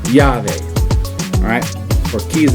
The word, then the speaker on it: llave: Alright, and we have a key right here, but in Spanish, key is llave. Alright, as a double L at the beginning, so llave.